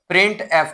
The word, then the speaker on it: printf: ठीक हो गया, इसको जो है प्रोनाउंसिएशन जो इसकी जो है वो की जाती है बेटा, वो की जाती है प्रिंट एफ के नाम से।